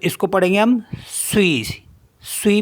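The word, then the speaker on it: suis: एस यू आई एस तो इसको पढ़ेंगे हम स्वी स्वी मी होता है एम स्वी नेक्स्ट है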